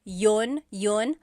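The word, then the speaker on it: iyon: You might hear me saying yun as if there's no I and that's commonly how it's pronounced.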